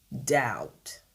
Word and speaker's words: doubt: La lettre Btzellé avant le T ne se prononce pas. On a un bmuet. Par exemple, vous avez les mots comme doubt.